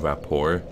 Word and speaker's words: Rapport: Well, anyway, this spell is called Undead Rapport. I believe the T at the end is silent.